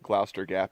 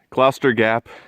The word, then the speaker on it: Gloucester: I believe it's pronounced Gloucester Gap because it doesn't have an H after the C.